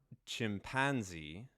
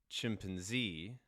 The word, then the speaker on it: chimpanzee: chimpanzee chimpanzee sorry chimpanzees so there's initial stress there's stress on the second syllable c and stress on the third syllable so it looks like every single syllable can be stressed depending on the dialect so a lot of variation a lot of variation in the word chimpanzee i wouldn't worry too